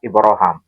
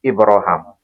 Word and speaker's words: Ibraham: Tapi cara pelafalan diizinkan oleh Nabi dilafalkan dengan cara baca Ibrahim dengan cara baca Ibraham. Ini sama-sama versi bahasa Arab.